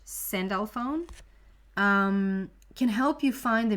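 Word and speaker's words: Sandalphon: good in the world archangel cindelphone is how you pronounce it in english send alphone can help you find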